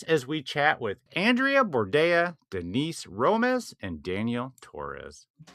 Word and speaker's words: Bordea: Andreas Bordeas.